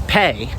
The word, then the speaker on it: Pei: Now, the next app I want to talk about is Pay. That's spelled PEI.